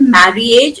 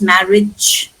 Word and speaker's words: marriage: Not marry age, it's marriage. See, we don't. Yeah. If there's a double R, double P, we only pronounce one.